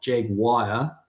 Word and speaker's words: Jaguar: It sounds like they're saying JAG, and then WIRE. It's like it's not Jaguar. It's not a wire. Yeah, it's Jaguar.